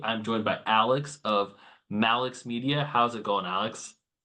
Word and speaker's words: Malix: Is it Malik or Mix? Mal. Yeah. Mal Media is a combination of my name and my business partner, uh, Max Morgan.